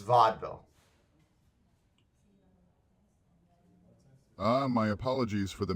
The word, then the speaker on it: Vaudeville: Justice to the streets of vaudville it's Vaudeville it's pronounced Vaudeville ah my apologies for